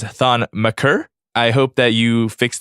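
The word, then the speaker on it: Thon Maker: pronunciation but I refuse you pronounced on mature as maker again it is thawne maccer I hope that you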